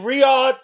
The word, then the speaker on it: Riyadh: It's in Riad, Saudi Arabia. There we go. That was it. There we go. There I said it right. There we go. Riad, Saudi Arabia, guys.